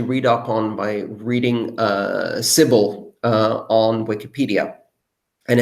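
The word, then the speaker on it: Sybil: now I'm particularly interested in solutions to the civil attack problem to me it seems like a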